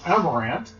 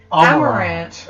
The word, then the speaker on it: Amarant: And so Zidane, previously known as Zidane, in this podcast, finds Amarant, who you remember from my first story as